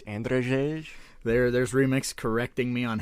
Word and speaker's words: Andrzej: It's Andrzej. There's Remix correcting me on how to pronounce a name.